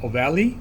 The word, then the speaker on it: ovale: And then if you go further down, there's this huge oval opening, and that's foramen ovale or ovale, depending on how you want to pronounce it.